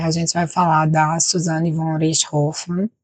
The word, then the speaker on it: Suzane von Richthofen: Porque a gente vai falar da Suzane von Richthofen. E, sim, é assim que se pronuncia. É um nome de família alemão.